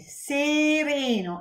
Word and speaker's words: sereno: So this one is closed, E, sereno, and this one is open, E, bello.